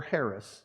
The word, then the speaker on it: harass: Let's just harass God a little bit, right? Or Harris, if you prefer that pronunciation, right?